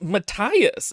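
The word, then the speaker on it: Matthias: to rape them and his name is Matias not Maas though that's how it's spelled why is it Matias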